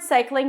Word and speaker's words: cycling: in the word cycling you start with an S sound then it's the I as in my Sai Sai then you have two consonants together in the backy and then you bring the tongue up for the L so you want to